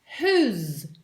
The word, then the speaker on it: whose: Et donc, si on lui ajoute ce z à la fin, cela fait whose, whose, whose.